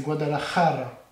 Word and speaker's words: Guadalajara: Non, c'est Guadalajara. Ah, je sais pas. C'est Jara, pas Raja.